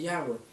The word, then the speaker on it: Yahweh: Las cuatro consonantes que en fonética resultan el nombre divino de Yahweh. Entonces dicen, no hay que pronunciar el nombre divino porque la Torah dice